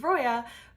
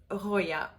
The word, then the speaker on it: Roya: And in my case, I think I was probably forced to learn it because it's in my name, which in English is Roya, but in French is Roya.